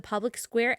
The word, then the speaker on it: Public SQ: do is download the Public Square app so wherever you download your apps just go to the App Store type in public SQ it's spelled public SQ but it's pronounced Public Square or you can go